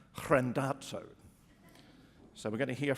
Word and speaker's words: Randazzo: pronounce his name, because I thought his name looked like Mark Randazzo, or Randazzo. I asked Mark how you pronounce his name, and he said, Mark Randazzo.